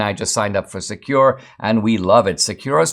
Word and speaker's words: Sekur: Secure, it's spelled S-E-K-U-R, offers secure instant messaging